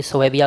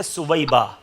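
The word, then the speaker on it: ثویبہ: اس نے اپنی لونڈی سویبیہ کو آزاد کیا تھا، اس سبب سے اس کے عذاب میں تخفیف کی جاتی ہے۔ اس کا صحیح تلفظ ہے سویبہ۔ سویبہ لونڈی کو اس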